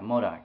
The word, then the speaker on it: MODOK: for example let's see uh modok modok yeah modok yeah that's how you say it yeah modok